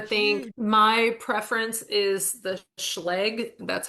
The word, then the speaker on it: Schlage: My preference is the Schlage, that's how I pronounce it. Schlage. Schlage schlage. I've heard a lot of pronunciations. Feel like you have a mouthful of food, you say it right.